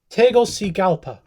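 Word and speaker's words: Tegucigalpa: that name okay sir it is pronounced tegel C galpa Honduras um and he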